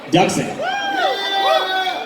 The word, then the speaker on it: Duxon: We need to get our ducks in a row, right? That's easiest. It's the easiest way to remember it.